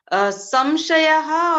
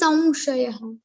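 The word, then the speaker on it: संशयः: after sa, we have to pronounce like Va Anunasik. So Va Anunasik is something like we have I think we have Haland under the Va, and also we have the Matra. So it will like Samshayaha. It should be pronounced as Samshayaha, not Samshayaha. Samshayaha.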